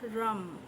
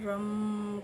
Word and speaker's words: রম: দিয়ে এটা আমরা উচ্চারণ করব রম রম। এই উচ্চারণটা কিভাবে করব? প্রথমে আমরা নিঃশ্বাসটাকে জোর করে নিয়ে পুরো নিয়ে ছাড়তে ছাড়তে আমরা রম করে যেমন ওম উচ্চারণ হয় তেমনিভাবে আমরা উচ্চারণ করব।